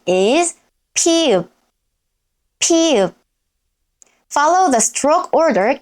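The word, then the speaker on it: 피읖: Next is pi-eup. Its name is pi-eup, pi-eup.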